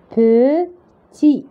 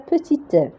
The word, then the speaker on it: petit: Regardez, UN, ça se prononce un petit. Donc, on ne va pas prononcer T à la fin parce que si on ajoute E, on va dire petite.